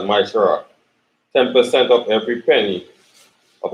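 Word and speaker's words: מעשר: Means tenth in Hebrew, and pronounced as Maishara.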